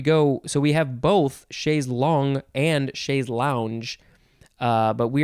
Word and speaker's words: chaise longue: No, it's chaise long. Aha, chaise long. Because it is spelled Longue. It's like tongue with an L, and it's pronounced long.